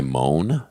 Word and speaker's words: Mone: guy Moan? That's his name. Moan? Yeah, I played him on the podcast twice. How you spell it? Mone. Oh, I would've said Monet.